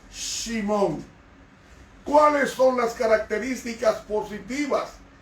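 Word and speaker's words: שמעון: heredad pasamos inmediatamente a simón que se conoce como simeón se pronuncia en hebreo simon cuáles son las características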